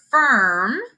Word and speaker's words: firm: Firm is spelled FIRM, not URM, but it still makes the sound as if it was spelled with a U and an R, okay?